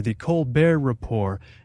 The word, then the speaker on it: The Colbert Report: make it on and i'm gonna use the pronunciation that's correct here the colbert report now i i couldn't help but feel my